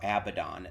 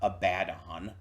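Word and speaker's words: Abaddon: cultures and whatnot but the most widely used and accepted pronunciations are abidon not abadon or whatever the [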